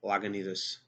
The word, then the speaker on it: Lagunitas: Of course, Guinness, and also we have the Yeti Imperial Stout and Lagunitas. Now I'm pronouncing it correctly, Lagunitas Imperial Stout.